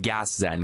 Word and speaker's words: Gaszen: your latest and greatest which is pronounced I believe gas Zen gas management what do